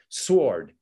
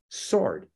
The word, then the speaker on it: sword: working with us and she would say sword, okay? Like a sword. I say, no, sword. Okay, yeah, sword. Like bound and determined to give that word the value that those letters have in her language.